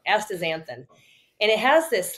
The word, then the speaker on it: astaxanthin: And then, I take sometimes, I don't even know how to pronounce it. Astaxanthin. Yeah. Astaxanthin. Thank you. I always pronounce it wrong. Astaxanthin.